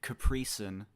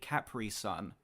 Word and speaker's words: Capri Sun: saying Capri Sun properly other Americans pronounce it Capri which annoys the hell out of me he just said it properly cpri son oh my God I'm